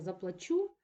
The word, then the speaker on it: заплачу: не треба треба платити людина неправильно наголосила слово треба було заплачу Ось але виникло таке